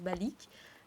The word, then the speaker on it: Balik: Et pour les gens de chez Colibria qui ne me connaissent pas, je m'appelle Balik, ça se prononce Balik.